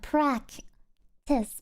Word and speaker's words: practice: Or practice. The first C is pronounced as a K. You know, practice. But the second C is pronounced as an S.